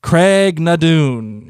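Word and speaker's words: Craigh na Dun: and confusion say how do you say it Craig nadun oh look at you you worked on how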